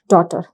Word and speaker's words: daughter: अभी डॉटर का जो स्पेलिंग है वो थोड़ा सा अलग हो जाता है, क्योंकि अगर आप सुनते हो तो वो डॉटर लगता है, DOTER ऐसा कुछ लगता है, बट उसका स्पेलिंग कुछ इस तरह से है, DAUGHTER, डॉटर।